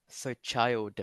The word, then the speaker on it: child: Um, so make your ch sound a bit softer and pronounce the d at the end. So try again. Child. Duh. So child.